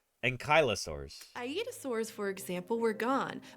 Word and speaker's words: Ankylosaurus: a little bit ankylosaurus ankylosaurus is how you probably because like ano it's like it implies that the the L is before the Y and it's not the Y is before the L ankylosaurus iosaur for example were